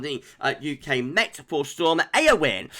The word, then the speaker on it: Eowyn: UK met for storm AO win I think we're pronouncing this AO win AO win I was